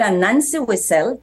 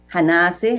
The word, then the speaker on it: Anansi: That the word Anansi itself, we could have it as Hanasi, Hanansi. So that's one of the few words with 4 variant spellings reflecting different pronunciations that appear standard across the country.